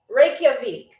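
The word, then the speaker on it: Reykjavík: It is pronounced Reikavik.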